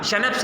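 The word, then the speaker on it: Schnapps: इट is Christmas day, आज Christmas का दिन है टॉमी, वी हैव स्कैनप्स देखिए लिखा जा रहा है, इसकी प्रोनाउंसिएशन आपको शैनप्स करनी है।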